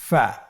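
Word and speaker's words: ف: প্রিয় শিক্ষার্থী বন্ধুরা আজকের দারসের পরবর্তী হরফটির নাম হলো ফা। ফা জবর ফা ফা জের ফি। ফ্যাফি। আবার বলুন ফ্যাফি ফা পেশ ফু ফ্যাফি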